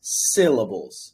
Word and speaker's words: syllables: the word syllables syllables if you listen back to me saying the word syllables you will hear that there's an H there's an H it's there's an H after the s-i it's very short it's a very small age it's not sick levels but it's it's there it's syllables syllables and you can hear